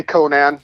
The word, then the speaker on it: Conan: were coming out, and I had people mispronounce my name pretty much my entire life until Conan O'Brien. Yeah, Conan. Yeah. I was like so happy for Conan O'Brien when he got a show. I was like, yes, finally. Yes. Pronounce it like that guy.